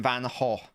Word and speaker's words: Van Gaal: playing keeper than not the g is pronounced like h so yeah so it's vincent van gaal vincent van gaal it